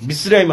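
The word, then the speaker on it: מצרים: 있는 미스라임 이집트에 미스라임 히브리어로 미스라임 하면 이집트에 히브리어 발음이 미스라임이에요 그러니까 이집트 뭐 납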